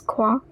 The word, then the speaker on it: croient: Same as je tu ils elles, the last ils elles is also pronounced as crois. The past participle is cru, which means believed. Note that the French uses je crois where English says, "I think so."